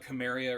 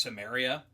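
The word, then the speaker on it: Cimmeria: Uh you said Conan of Chamaria or something like that. And it's I believe it's pronounced Samaria.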